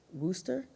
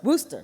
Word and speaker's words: Worcester: happened at the um I always say this rooster I hope I'm saying that right Worster massachus did I say it right wer Worster Worster right Worcester thank you thank you I always get it wrong Worcester um they had